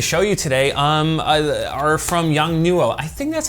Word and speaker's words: Yongnuo: called so hopefully it's young new oh if not please correct me and I will